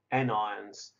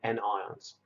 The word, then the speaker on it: anions: know it looks like patience but it's actually pronounced cations and negatively charged ions which are called anions and again it looks like onions but that